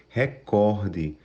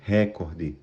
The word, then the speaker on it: recorde: de lembrança de recordar a sílaba tônica da palavra vai ser recorde Não Existe a palavra recorde certo é recorde é isso então pessoal